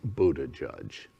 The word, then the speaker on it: Buttigieg: even on it's happening i could not pronounce his name the reason he called himself mayor pete is none of us could pronounce his name on february 2nd 2021 the entire planet knows it's buddha judge congratulations next we're going